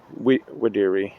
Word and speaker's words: Videri: I think it's actually pronounced Essa Quam Videri, because in Latin, I think it's Latin, and in Latin the V sounds like a W.